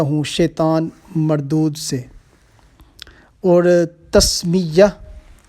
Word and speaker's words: تسمیہ: شیطان مردود سے۔ اور تسمیہ، اور اس کا اصل میں تلفظ ہے تسمیہ۔ بسم اللہ الرحمن الرحیم